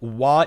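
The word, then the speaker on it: は: So if it's a particle, wa is written like ha.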